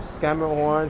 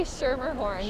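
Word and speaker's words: Schermerhorn: everyone fails to pronounce i've heard everything from scammer horn to shimmer horn to schemer horn i'm sorry horn i think i usually say shermer horn but i don't know if that's right or not i don't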